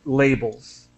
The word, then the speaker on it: labels: being pirated and just the pronunciation of labels with an a sound labels labels right and uh hello